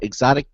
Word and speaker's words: Xotic: company called exotic PC it's spelled xotic exotic PC and has become one